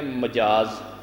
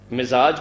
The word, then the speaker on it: مزاج: جو جیسے کراچی میں اکثر لوگ کہتے ہیں مجاز، مزاج کو کہتے ہیں مجاز، حتیٰ مجاز حقیقت کے